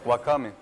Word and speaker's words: wakame: Wakame. Wakame. Tem que pronunciar todas as sílabas. Não tem... Não é francês que engole as sílabas.